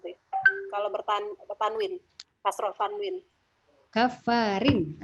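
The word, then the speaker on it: كافرين: Kafarin, rin tipis. Nah, tipis ya. Kafarin atim, ya dia tipis karena dia kasroh ya masuknya.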